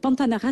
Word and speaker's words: Pantanara: ce nom voilà donc pantanara c'est s'écrit P a n t a n a R a ben tout simplement en fait voilà tout simplement comme ça se prononce donc j'ai un site